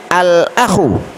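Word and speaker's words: الأخ: Berikutnya al-akhu, ya, artinya saudara, saudara laki-laki. Al-akhu artinya saudara laki-laki. Kira-kira huruf apa ini? Huruf Qamariyah, ya. Makanya cara membacanya alnya dibaca dengan jelas. Al-akhu, saudara laki-laki.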